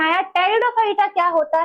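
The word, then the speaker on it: Pteridophyta: ब्रायोफाइटा में शुरू हो चुका था और टेरिडोफाइटा में स्पेलिंग याद रखना टेरिडोफाइटा की स्पेलिंग टी से नहीं पी से स्टार्ट होती है और सडोफोडिया की स्पेलिंग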